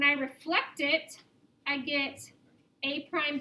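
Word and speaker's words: A′: it with an a in an apostrophe pronounced a prime so what i showed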